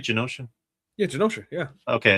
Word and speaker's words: Genosha: Am I saying it right, Genosha?